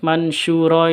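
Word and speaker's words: منشورا: Terus mansyura ini cara bacanya samar disertai dengan dengung. Mansyura seperti itu.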